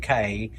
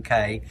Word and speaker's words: Caye: Away at Half Moon Caye. And it I only remember it because it rhymes. Right. So, Relax Away at Half Moon Caye.